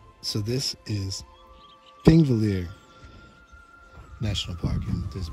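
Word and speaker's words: Þingvellir: Thingvellir. I can't say it right, but I'll try. It's like a, almost like a tree or TH, but not entirely.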